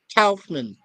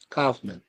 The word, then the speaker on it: Kaufman: be called yes yes is it Kaufman or calman I I always mispronounce it Kaufman cman Kaufman yeah man of the